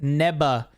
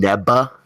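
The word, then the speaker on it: Neva: apparently Nea is pronounced neba because it's uh what's it called their pronunciation of the V is a b so NE neba neba oh that's interesting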